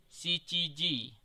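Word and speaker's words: 七: Kemudian angka 7 biasa kita mengucapkan nana atau shichi. Namun dalam menyatakan jam, bulan, dan tanggal itu biasanya mengucapkan dengan shichi.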